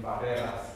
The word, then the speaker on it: barreras: He trills his R really hard on reggaeton. I want you to hear how he pronounces his R in barreras here.